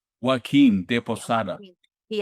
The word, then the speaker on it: Joaquin: I can't pronounce his name, he's deceased now, but you know who I'm talking about, Joachim? Joaquin de Yeah, Posada.